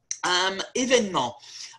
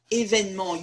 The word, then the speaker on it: événement: Événement. There are three E's in French. E on its own is pronounced E, or it's dropped.